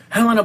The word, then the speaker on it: Helena: Yes, Patrick Stewart, Helena Bonham Carter, and Carrie Elwes. Stop pronouncing the H. Stop pronouncing the H in her name.